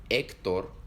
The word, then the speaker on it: Héctor: En español, la H no se lee. En las palabras Honduras, Héctor o La Habana, la H en ningún momento suena.